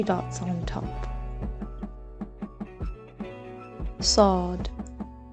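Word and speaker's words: ص: Sad. The best way to remember this letter is to think of it as a heavy letter with a heavy S pronunciation.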